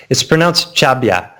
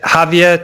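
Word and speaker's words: Xàbia: It's pronounced Chabia. It's like Javia to the English speakers, or Chabia to the natives.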